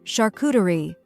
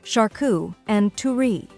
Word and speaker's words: charcuterie: It's also important to note that the French pronunciation of charcuterie is slightly different with a more guttural R sound and a less emphasized final syllable. However, for most English speakers, the anglicized version described above is perfectly acceptable and widely understood.